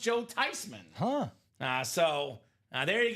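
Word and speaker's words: Theismann: It's actually not Theman. It's actually pronounced Tyman."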